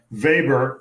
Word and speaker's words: Weber: side is often associated more with weber that's weber pronounced weber vaber then marks uh and weber did focus a